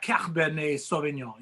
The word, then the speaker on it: Cabernet Sauvignon: So I have a Cabernet Sauvignon is what I have.